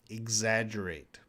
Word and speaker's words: exaggerate: Exaggerate. It has more of a G sound.